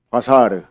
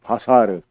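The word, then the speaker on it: בָּשָׂר: 바사르. 다 같이 한번 해봅시다. 바사르.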